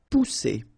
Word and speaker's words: pousser: Pousser. All right, remember one vowel, and then double S here. So the sound that you should produce is really strong. It's s, okay? Pousser.